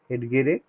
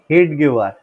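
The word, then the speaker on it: हेडगेवार: এবার এটাকে উচ্চারণ করে কখনো হেডগেরে উচ্চারণ করে, হেডগেওয়ার, যে যা উচ্চারণ করতে পারে।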